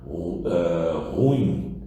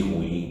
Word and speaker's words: ruim: Ruim, ao invés de ruim, que seria o correto. A mudança no acento tônico traz um vício de linguagem conhecido como silabada.